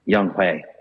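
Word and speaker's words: Younghoe: Young-Ho Koo. Oh, man. I tell you what, Young-Hae. Yeah. That's how it's pronounced.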